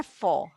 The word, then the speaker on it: faux: Okay, इसकी pronunciation है फॉ। यू कैन रीड फॉ।